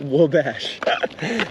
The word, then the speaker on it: Wabash: old uh odds seem good or no it's pronounced Wabash how can I pronounce it wrong in the